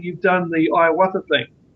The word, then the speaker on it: ayahuasca: is, as you were saying, you've done the ayahuasca thing. How do you pronounce that?